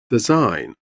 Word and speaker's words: design: Design. G is silent.